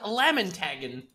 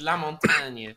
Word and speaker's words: La Montagne: it tells you to turn on lamin tagging is la montagne you know they pronounce it as lamin tagging yeah i don't speak